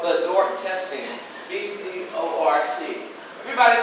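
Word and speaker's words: BDORT: The little test we do at Columbia called Bedort testing, B-D-O-R-T. Everybody say Bedort. Spell it with me.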